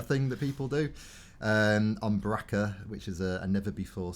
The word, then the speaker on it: Bracca: On Bracca, which is a never before seen planet in the Baracca. Bracca. Fizzy, when you're feeling a bit down. To rhyme with Chewbacca.